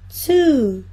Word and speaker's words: two: One, two, two. As pessoas costumam dizer two, mas não é two, é two.